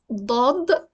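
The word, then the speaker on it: ضاد: It is Daad, and it's a heavy D. It starts heavy, doesn't end heavy.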